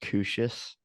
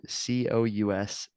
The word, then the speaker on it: couscous: talking about couscous which as a kid I thought it was pronounced cushes I was like oh crucius you know because that like that's what it looks like it's spelled c-o-u-s-c-o-u-s it's like it could be spelled either way really works but it is couscous and uh if you